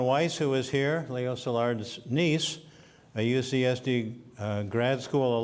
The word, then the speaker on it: Szilard: first language he sometimes called himself just Leo Szilard or Zilla close to what I do with his name he lived 13 years in Germany and another five in England and that changed his pronunciation he even adopted the English way of beginning a phone call hello Salar dear the FBI mangled poor